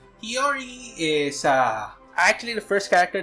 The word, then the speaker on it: Chiori: I just pronounce her as Chiori. I think that's the way they pronounce her name. Chiori is actually the first